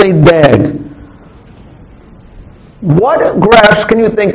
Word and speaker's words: DAG: a directed a cyclic graph which we call pronounce as a dag okay so we going to use this word